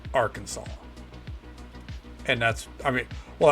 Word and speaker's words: Arkansas: that it's spelled Aransas but legally it is pronounced Arkansas and that's I mean well that's how it